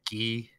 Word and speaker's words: Guy: we know it says guy but it's actually pronounced ghe and it says like ghe e e as